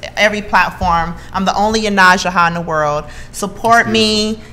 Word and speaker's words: Yonasda: Yonasda.